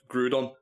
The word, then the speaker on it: Groudon: Yeah, it is Groudon, Okay.